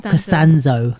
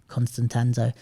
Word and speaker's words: Costanzo: Costanzo. It's because Abe messed it up by saying Constantanzo.